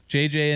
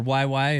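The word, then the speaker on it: Juuse: You've got JJ in net, or YY if you pronounce it accurately, in net, which is going to be an interesting situation.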